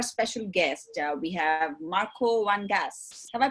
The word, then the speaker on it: van Gaans: Well, Marko was correct, and then Van Gaans. Van Gaans. Yeah, okay. We have the g at the beginning.